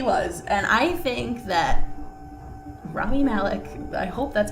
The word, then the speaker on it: Rami: Rami.